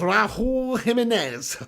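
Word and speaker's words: Raúl Jiménez: Lynette Giggs says, pronounced as Raul Jimenez.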